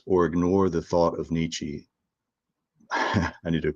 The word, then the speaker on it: Nietzsche: a certain level uh your professors will yell at you if you don't pronounce it with the German niche uh but I don't like those kind of pretensions I speak English for English people.